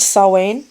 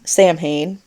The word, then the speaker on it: Samhain: Dr Lumis and say sam Hayne it is not that because um in gelic I think it is the the m and the H make a w sound so but anyway uh